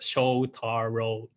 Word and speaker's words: Shotaro: I know my name is a little bit wrong to pronounce, and the true pronunciation is Shotaro.